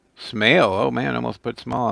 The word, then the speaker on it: Smail: Gill crucial in ski Jansen's Eric Weinrich Doug small Smail oh man almost put small in there that's